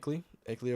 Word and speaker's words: Akeley: That's how you say it, Akeley, Oklahoma.